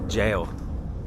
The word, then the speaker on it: Gaol: I was definitely wrong, because the Cork City Gaol, even though the spelling is G-A-O-L, it's still pronounced jail.